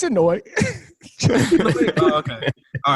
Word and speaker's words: Anoa'i: I don't think Aaron knows how to pronounce it either. It's Anoa'i.